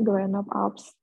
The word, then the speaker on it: Université Grenoble Alpes: Bacanya Grenoble Alps.